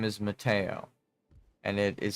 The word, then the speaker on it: Matteo: Matteo. Knock. Matteo. Why does it Why do I pronounce it like that? Because me and my family are Italian.